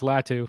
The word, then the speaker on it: Latu: Is it Latu? Is that how you say it? Yeah, it's Latu.